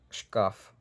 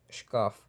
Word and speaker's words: шкаф: Шкаф, шкаф, шкаф.